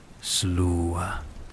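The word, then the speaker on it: Sluagh: Pero quizás los espíritus más aterradores de Sam Fein eran los Slua, pronunciado Slua, la hueste de los muertos.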